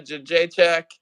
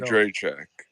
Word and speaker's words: Jędrzejczyk: We all say it wrong. Joanna Jed Rajacek. That was the best you've ever done. Just Joanna keep on going. Jędrzejczyk. Yeah, you say it wrong too. There's no fucking N in it. Every American puts an N in it. There's no N in it, bro.